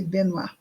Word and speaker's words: Benoist: Não é assim que se fala, com certeza. Se escreve Benoist. Benoist. Mas como é em francês, deve ser Benoit, talvez.